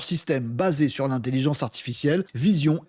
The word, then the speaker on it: Veesion: Vision, ça s'écrit de E. V E E S I O N.